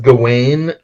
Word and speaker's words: Gawain: Green Knight, I but read everybody says Gawain, and because that's how it's like I modern English pronounces it.